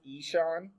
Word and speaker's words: Ishaan: this tells us and i was told that's ishaan is how you say that is ben is